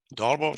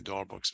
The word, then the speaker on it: Darboux: It's a Darboux. That's it. You can check it on internet for yourself. Darboux, some people say Darboux, which is not true.